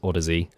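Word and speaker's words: Audeze: Maybe some of the ones like the Heads or the apparently it's pronounced Odyssey, some of those would be quite good for us to try at some point.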